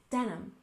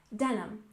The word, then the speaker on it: denim: finally we have denim we stress the first syllable in denim denim and this is the